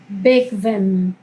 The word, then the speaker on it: bequem: Bequem, cómodo, ¿bien? Bequem, bequem. ¿Ok? Así se pronuncia la Q en alemán.